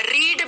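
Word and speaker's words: read: हाँ रीड भी हो सकता है क्योंकि तीनों फॉर्म्स सेम होती है, रीड, रेड, रेड, बस बोलते अलग हैं, स्पेलिंग भी सेम होती है, गुड।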